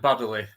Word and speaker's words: Baddeley: It's Baddeley.